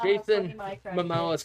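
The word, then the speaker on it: Momoa: I don't think I I'm pretty sure it's Jason Mimoa, ain't it? I always say Samoa. That's the It's the country.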